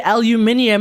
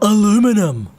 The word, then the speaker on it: aluminium: We just say aluminium instead of aluminum.